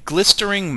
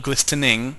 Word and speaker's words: glistering: this potion is a glistering melon um and yes that is correctly pronounced I had to look it up a couple of times and it is not glistening it's an r i don't if it's